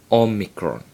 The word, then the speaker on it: omicron: next one is omegron omikron and it's pronounced o as in not o micron and as you will